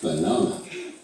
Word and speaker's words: banana: The stressed A has an R sound, but the other 2 A's have schwa sounds. Banana.